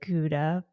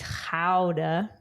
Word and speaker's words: Gouda: First one was, I pronounce it Gouda, but it's Gouda. Yeah. Like Gouda cheese.